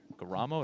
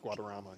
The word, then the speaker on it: Guadarrama: They lost to Brodsky and Guaramo. I don't think I said that right, of Staples High School. Alex Guadarrama. Yeah, Guadarrama. Really good match. Missed a syllable.